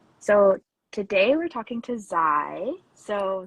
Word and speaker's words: Zai: thank you for having me my name is z pronounce I occasionally with a they and I'm